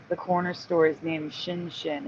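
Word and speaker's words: Xin Xin: know that because the corner store is named Shin Shin it's Xin n Xin n and the store owner told me it's pronounced Shin shinin shinin shinin yeah oh here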